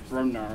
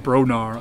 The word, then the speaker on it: Brobnar: I couldn't even pronounce Brobnar. I was like, yeah, I always want to call it Bronar. Yeah. It's the Brodar, but Brob. No prob, Bob.